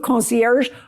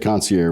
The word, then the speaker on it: Concier: Is it move concier or move concierge? How do you say it?" I just say it concier with a little bit of a Texas accent, but it's funny.